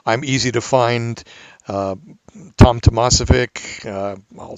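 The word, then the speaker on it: Tomasovic: easy to find Tom Tomas if ik I'll spell it for you it's mas just the way it sounds if you if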